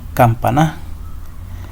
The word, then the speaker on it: campana: Diría campana. Como está ahorita, dice campana. Hace mayor fuerza de voz en el pa.